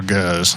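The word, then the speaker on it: gueuze: that again it's well it's either goose or goes and it's kind of depends on who's saying it but it's the one it's it's lambic that three-year-old two-year-old and one-year-old lambic that's blended together it's produced it's g-u-e-u-z-e uh or i think there might be another e in there anyway it's pronounced goose or goes and it's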